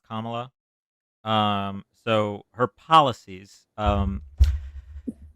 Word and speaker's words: Kamala: you uh okay so first of all it's pronounced comma um so her policies um she had four